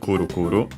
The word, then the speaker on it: くるくる: is spinning around, and it should be accented just like most onomatopoeias on the first syllable. Yes, it is Kuru Kuru.